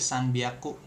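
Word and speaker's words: 三百: Nah, ini di 300 dia jadi sanbiaku seperti ini. Jadi harusnya kan hyaku tapi bunyinya jadi biak pakai B biaku. Nah, ada tank-tanknya nih. Iragana hi-nya san biaku.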